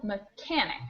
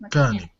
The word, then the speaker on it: mechanic: a quick pronunciation note this word here has the stress on the second syllable mechanic meic mechanic mechanic thank you very